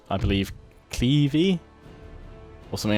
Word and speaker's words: Cleves: Yeah, apparently Clevey is the correct way to pronounce it. Although, I think Cleves is the the British pronunciation as such. I will try to say Clevey.